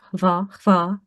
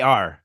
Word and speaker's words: Hvar: kind of pronounce some of the letters, and then you just suddenly just go like, Va, nah, va. I can't do it. HVAR.